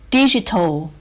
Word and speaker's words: digital: Digital. We stress the first syllable.